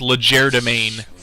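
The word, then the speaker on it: legerdemain: I still see people struggling to pronounce that it is valid and I will accept that uh it is not though it is legere domain you sound ridiculous that is how you say it uh better than when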